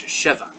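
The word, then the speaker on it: שווא: You can call it the same thing, schwa, except in Hebrew it's sheva.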